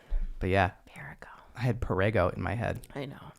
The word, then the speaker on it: Perrego: It's Perrego. I know. Oh my God. But yeah, Perrego. I had Perrego in my head.